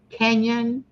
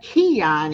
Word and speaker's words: Kenyon: meet and I think I said your last name correct Kenyon yes yes I was like Keon at first I'm like no I think I'm saying it wrong anyway John meet Tommy